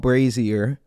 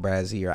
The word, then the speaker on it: Brazzier: the comments I guess the song is called brazier I would have never guessed that I would have never guessed that I'm over here saying braier I I and I told myself I told